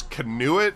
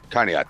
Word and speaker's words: Conneaut: How do you say, what is this, Canuet? Or how do you say that city's name? Conduit. Conduit? Conneaut? Conneaut, thank you.